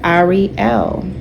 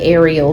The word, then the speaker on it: Ariel: named Ariel. Right? They pronounce it Ariel, but if you say Ariel, it's okay, because air is, you're still pronouncing like air, and this is still showing like a connection, relationship to Aquarius.